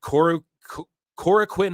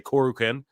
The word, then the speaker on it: Korakuen: Here is the New Japan Cup that kicks off at Korakuen Hall. I want to say it correctly. I always just say Korakuen, but I know that's not how you say it, but it's Korakuen Hall.